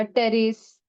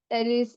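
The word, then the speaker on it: Pteris: है ठीक है मार्सलिया टेरिस पी जो है वो साइलेंट आएगा टेरिस इक्विसाइटम और सेलाजनेला नेला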